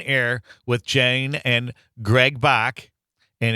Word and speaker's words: Bach: with Jane and Greg Bach. And it's, which is rhymes with Megan Lach. That's how we pronounce it.